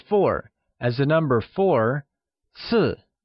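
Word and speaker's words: 四: However, make sure to not gift anything in sets of four, as the number four, si, sounds similar to the Mandarin word for death, si.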